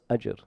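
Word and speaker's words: أجر: So in other words, this is pronounced ajr.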